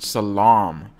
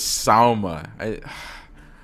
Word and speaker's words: Salma: I for some reason I said Port Salam I don't know why I keep calling it Salam but it's Salma Salam silly Matthew anyways anyways